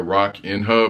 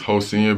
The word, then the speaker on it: Rocinha: It's spelled like rock in her, but in Portuguese it's Rocinha because the R makes the H sound.